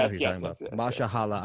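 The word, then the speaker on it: Mahershala: Mashallah Ali. Yeah, that's how you say it.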